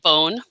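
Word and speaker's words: Beaune: did my training there in a city called bone and it's spelled b-e-a-u-n-e it's one of the places that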